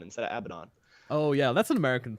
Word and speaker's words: Abaddon: Moo would be very pleased for you saying Abaddon instead of Abaddon.